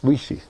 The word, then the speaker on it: Weegee: And he actually, I think he describes himself and pronounces it as Weegee. That's what he says, Weegee.